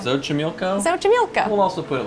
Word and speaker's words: Xochimilco: We're not even gonna try to pronounce it. No, it's Xochimilco. We're gonna put the name like... Xochimilco. Xochimilco?